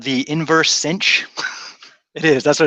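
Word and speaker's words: sinh: a quick note on the inverse cinch the Cinch function which we'll talk about later in the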